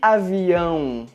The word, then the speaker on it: avião: Com o acento circunflexo e com o til, a letra A fica com um som nasal, como por exemplo nas palavras lâmpada e avião.